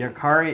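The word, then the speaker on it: Jääkäri: pronounced the same way so it's a bmp1 yakari company yakari is correct well well good yeah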